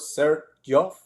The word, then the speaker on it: Xerjoff: sir and that's why the association of the two words sir Joff that's how the name is started for the brand